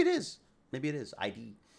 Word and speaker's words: id: is maybe it is id id got it uh is that how they say it ID software it's not ID it just sounds somehow more profound uh I thought there